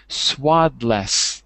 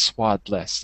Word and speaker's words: swaddles: It should be swaddless, but it's not pronounced swaddless. It's spelled that way, but it's pronounced swaddle, as if it was D-E-L-S, not D-L-E-S, swaddles.